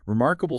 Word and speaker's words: remarkable: Remarkable stress on mark.